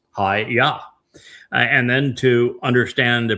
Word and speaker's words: Yahweh: And haya tells us how to pronounce the y the yod and the two hays in Yahweh's name. It's hi yah.